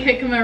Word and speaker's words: jicama: We're not gonna make jicama wraps, guys.